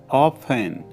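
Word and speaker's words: often: महंगा, expensive, expensive, अक्सर, ऑफन, ऑफन, इसमें टी साइलेंट होती है, विश्वास, ट्रस्ट या बिलीव,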